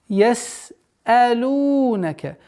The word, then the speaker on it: يَسْأَلُونَكَ: яс'алунака. Долгота в размере двух огласовок дамма. И не забудьте полноценное произношение сина.